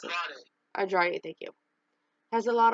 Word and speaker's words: Andrade: So next part of it is Andrean, can you pronounce it? Andrade, thank you.